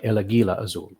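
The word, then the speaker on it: El Águila Azul: It's a hard G. It's like El Aguila Azul.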